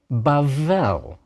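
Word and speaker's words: בבל: letter b a bet without a d is pronounced like our letter V so bavel Babylon the Tower of Babel in Genesis 11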